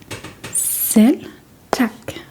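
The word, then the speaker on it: selv tak: So, sel tak s e l b t a k and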